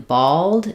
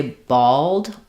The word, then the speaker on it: bald: So, the the a in bald is the a vowel like in ball. Um, so when I say bald, bald, I have kind of an a slightly rounded shape for my vowel before my L.